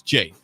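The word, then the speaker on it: Jai: If you want to shoot your name, it'd be sorry, it's Jay. J-A-Y. Actually, J-A-I, but pronounced J-A-Y, he says.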